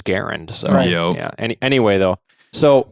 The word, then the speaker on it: Garand: John gar yes yes he pronounced his own name as Garen so yeah anyway though